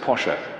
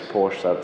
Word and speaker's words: Porsche: me who it was actually you pronounce it posher ferdinand posha but everybody says porsche so that'll do but the same man